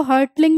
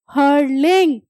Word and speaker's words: hurtling: ठीक है, यहाँ पे जो टी होता है वो साइलेंट होता है, तो आप इसको हर्टलिंग नहीं पढ़ोगे। ठीक है, हर्टलिंग नहीं होता, टी जो है दैट इज साइलेंट।